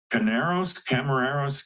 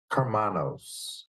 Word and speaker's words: Karmanos: Craig Cole, MD, Michigan State University, Camarero's Cancer Institute. Craig, how do I say that? Carmanos. Oh, Carmanos. Well, I butchered that.